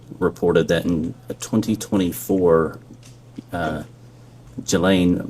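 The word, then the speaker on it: Ghislaine: that in 2024 uh Gelain Maxwell or Gilain I think is how it's pronounced arranged and wired $1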